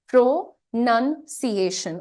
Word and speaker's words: pronunciation: लेकिन इसका उच्चारण, इस वर्ड का खुद का उच्चारण क्या है? प्रोनंसिएशन। और जब आप थोड़ा जल्दी से बोलते हैं तो ये कैसा साउंड करता है? प्रोनंसिएशन, प्रोनंसिएशन।